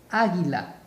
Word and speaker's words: águila: A-gui-la. Mayor fuerza de voz, águila. Águila, águila. Águila, mayor fuerza de voz acá. Última, penúltima, antepenúltima. Si la mayor fuerza de voz está en la antepenúltima sílaba, es una palabra esdrújula, se debe acentuar.